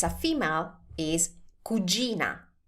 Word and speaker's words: cugina: If it's a female, is cugina. Cugina. Now, pay attention to the pronunciation of this word because this can be tricky too.